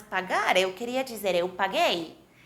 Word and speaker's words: paguei: queria dizer eu paguei que temos que fazer para que a pronúncia seja eu paguei exato adicionamos a letra u o mesmo que em espanhol Eu acho que é um assunto muito intuitivo somente na primeira pessoa adicionamos para que se pronuncie eu paguei vejam que No resto